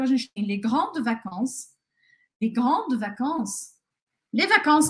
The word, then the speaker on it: vacances: E aí, lembrando também que esse S aqui, ao final das palavras, em geral, ele não é pronunciado em francês, tá? Então, eu falo les vacances en français, tá? Esses S eu não falo.